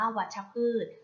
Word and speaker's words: วัชพืช: ค่ะ คำ ว่า วัชพืช วัชพืช อ่าน ว่า วัชพืช วัชพืช ประกอบ ไป ด้วย วอ